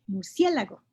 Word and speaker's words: murciélago: Y hay esdrújula, murciélago. El acento del murciélago hace que aceleremos la pronunciación.